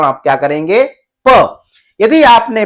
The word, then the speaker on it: प: तो यहां पर हम एक चीज को सीख चुके कि इसको प कहना है या पा कहना है।